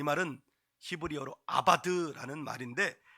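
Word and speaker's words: עבד: 섬긴다 이 말은 히브리어로 발음을 아바드 이렇게 하는데, 제사는 자바드예요.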